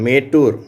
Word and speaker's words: மேட்டூர்: இந்த ஏ என்ற உச்சரிப்பு எங்கே வருதுன்னா, தமிழ் பெயர்களை ஆங்கிலத்தில் எழுதும்போது அது மாதிரி வருது. இங்கே பாருங்கள், மேட்டூர். மேட்டூர்னு ஒரு ஊர் இருக்கு இல்லையா, அணைக்கட்டு இருக்கு இல்லையா, மேட்டூர் டேம், மேட்டூர் அணைக்கட்டு இருக்கு இல்லையா, அந்த ஊர் மேட்டூர்.